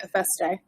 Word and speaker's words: FST: FST.